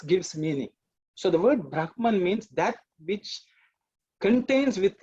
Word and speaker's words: brahman: there are many reasons i would say the brahman is the right pronunciation but you know we